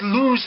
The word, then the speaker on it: lose: things why why oh because lose has an oo sound in it people constantly use